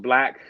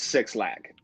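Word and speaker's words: 6lack: um technically his uh his name is pronounced black but everyone knows him as six lack so uh like as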